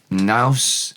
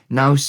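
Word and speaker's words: naws: Naus, n a w s, rhymes with cow's cheese. Naus is atmosphere, feel.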